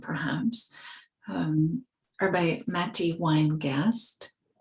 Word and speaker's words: Weingast: um or by Matty winegast last name is spelled w-e-i-n-g-a-s-t Matty wine ghost and these are poems